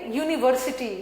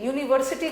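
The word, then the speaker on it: university: यूनिवर्सिटी, यूनिवर्सिटी को ऐसे लिखो, यू, YUU, ये ब्रिटिश वालों के लिए जिसको क ख ग घ नहीं आता है।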